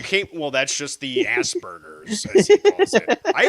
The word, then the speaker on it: Asperger: Just a reminder, it's pronounced Asperger.